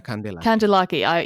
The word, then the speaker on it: Kandelaki: I think I can confirm your pronunciation was good.